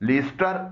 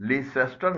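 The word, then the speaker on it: Leicester: England के 2 शहर हैं, लीस्टर और वुर्स्टर, इसको लीसेस्टर नहीं पढ़ा जाता बल्कि लीस्टर पढ़ा जाता है।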